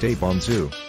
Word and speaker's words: Ibanez: guitar maker Ibanez Ibanez pronounced aponzu is a Japanese guitar